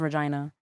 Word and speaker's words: Regina: It's spelled Regina, but it's pronounced Regina.